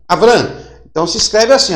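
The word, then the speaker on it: אברם: Como é que se lê Abrão? Olha, se lê Avram. Avram.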